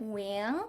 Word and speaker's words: Nguyen: So I pronounce it W. That's the way my family pronounces it.